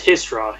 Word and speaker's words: Hisra: Yeah, so you notice she actually pronounced it like perfectly, like with like the Kunlat accent of how you're supposed to pronounce Hisra. She pronounces it almost like exactly the way you do.